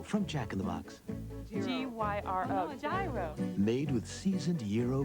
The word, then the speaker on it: gyro: A gyro. All right, it's a gyro. It's the new beef gyro from Jack in the Box. G-Y-R-O.